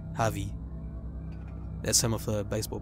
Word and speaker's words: Javi: his name as he pronounced it right the silent jay javy there's some of the